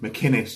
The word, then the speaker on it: McInnes: It's a hard C. McInnes, he gets real fucking tetchy about that.